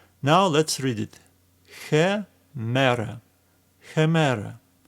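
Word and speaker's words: ἡμέρα: There are two ways how you could pronounce this initial h sound. Some people prefer deeper pronunciation, which comes from the depth of your lungs. Hemera, hemera. And other people prefer more softer pronunciation like h, hemera. In this course, I'm going to use softer pronunciation h, hemera.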